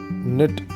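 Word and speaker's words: knit: नेट, इसमें बच्चों के साइलेंट है नेट में, तो थोड़ा ध्यान रखेंगे, के बोला नहीं जाता, सिर्फ नेट बोलेंगे इसको, साइलेंट है वो वर्ड।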